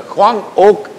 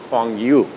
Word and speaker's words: Hwang Ok: And so he read it something like this: Hwang Oak, what the Koreans call the name of that lady, okay, is very similar to a word called Hanyu. The Hwang Oak is a Korean pronunciation of the Chinese letters, but whereas pinyin, the Chinese people call it as, instead of oak, they call it as yu. And so Hwang Oak is pronounced in Chinese as Hwang Yu.